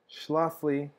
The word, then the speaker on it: Schlafly: opportunity to try the schlafly that's how it's pronounced schlofly um grand cru i recommend that you do